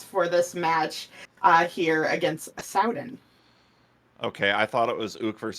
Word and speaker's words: Sowden: And I see it's pronounced, yes, Sowden. Okay. Like, are your pants ripped? Better Sowden.